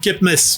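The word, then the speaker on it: CEPMES: C'était c'est la coopération économique, tu vois, si c'est conseil, ça c'est avec une prononciation à la K, donc Kepmes, tu vois, conseil économique, politique et militaire des États de la sphère, donc Kepmes.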